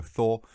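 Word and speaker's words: Þór: It's pronounced with a TH sound, so Thor.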